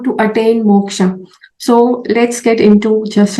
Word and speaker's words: moksh: must be knowing what moksha is. Okay, it's usually not moksha. Okay, yeah, how we spell it in English, it's actually moksh.